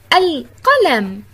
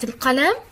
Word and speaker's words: القلم: عزيزي الطالب، تأمل الصورة التي أمامك واقرأ هذه الكلمات: القلم، الصندوق. ما الفرق بين الكلمتين من حيث نطق اللام؟ أحسنتم، نطقت في كلمة القلم ولكنها لم تنطق في كلمة الصندوق.